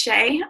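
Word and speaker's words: Seay: learned a lot from Shea Sanford's article her name if you want to look it up it's s-e-a-y and it's pronounced Shea um Stanford's article on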